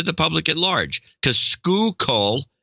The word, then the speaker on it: Schuylkill: public at large to school coal is not something I would normally pronounced correctly now who would it's